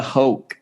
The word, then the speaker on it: Hoch: We've got myself, SM Freehand, and we've got Hoch. Thank you for saying it. You pronounced it correctly.